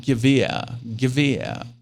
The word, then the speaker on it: Gewehr: And it's always fun to hear Americans say it, because they have the problem with the Gewehr part. Gewehr. Because it makes no sense, these letters together like that for English-speaking people.